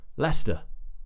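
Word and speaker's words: Leicester: but it's just and then we have St at the end Lester leester and this one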